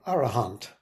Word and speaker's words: arahant: be arhats um or if you like to pronounce it in poly arahant I kind of like arhat myself um next is a